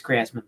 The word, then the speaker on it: Griezmann: the same reason that everybody gets anton griezmann's name wrong which also triggers me but you know and it is griezmann by the way it ain't very good um